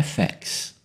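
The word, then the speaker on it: FX: efeito é identificado pelas letras e f x cuja pronúncia em inglês é fex podemos enviar sinal de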